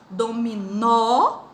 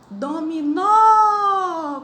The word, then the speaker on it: dominó: Exemplo, dominó, dominó, com a sílaba mais forte, o nó, que é a última.